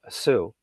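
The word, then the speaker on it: Sioux: It's, you know, like Sue.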